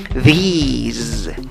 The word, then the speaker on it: these: These. Pero lo interesante es que esta palabra acaba en Z, a diferencia de la anterior que acababa en S.